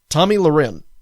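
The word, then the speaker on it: Tomi Lahren: Glenn Beck a guy that I really don't care for has suspended Tommy uh Tommy Luren. Okay, that's how you pronounce her name.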